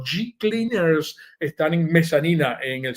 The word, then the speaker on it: G Cleaners: Se escribe Hecleaners y se pronuncia, dígalo como yo, G Cleaners.